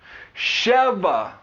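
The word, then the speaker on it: שבע: why this is important in the Hebrew language cheva is how we pronounce seven cheva it is spelled Shen B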